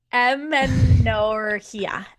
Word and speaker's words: amenorrhea: post pill am actually don't know how to pronounce that word. Amarina. Amenorrhea.